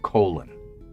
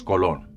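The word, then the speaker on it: Colón: It's not colon, it's colon. It always should have been colon.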